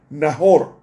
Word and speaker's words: Nacor: años y engendró a Nacor. En hebreo se pronuncia Nahor, que significa el que resopla.